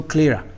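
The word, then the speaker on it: sclera: have a structure called Clara S is silent so Clara so this is the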